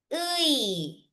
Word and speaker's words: 의: This one naman, we pronounce as 의. 의. 의 is pronounced as 의 in the first syllable of a word, but in syllables where it is preceded by a consonant, it is preceded as i.